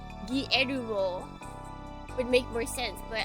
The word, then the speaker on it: Guillermo: Oh, it can't roll its R's in the correct way. Guillermo del Toro. Guillermo. That's how we're pronouncing his name from now on.